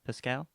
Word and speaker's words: Pascal: we're doing one for everyone's favorite uh Pedro Pasco Pasco Pascal how do you say it Adam uh Pascal Pedro Pascal sounds good that guy you know